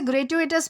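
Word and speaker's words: gratuitous: दोस्तों इसे ग्रेटुएटस प्रोनाउंस किया जाता है जिसका मतलब होता है अनावश्यक अनुचित या फिर बिना जरूरत के।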